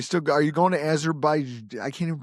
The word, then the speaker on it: Azerbaijan: And are you still are you going to Azerbai? I can't even pronounce it. Azerbaijan. Azerbaian.